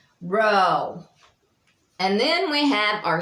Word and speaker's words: rho: And then we have rho, which I was telling you about the RH, but it can vary. Once you get to reading, like I said, you'll want to pronounce some kind of without the H, but just like with the R.